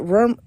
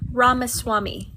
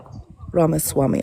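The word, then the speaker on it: Ramaswamy: Is it Ramwami? I can't pronounce his last name. Oh, neither can I. Help us out, Manda. Vive Ramaswami. Ramiswami. Ramaswami. Okay, thank you.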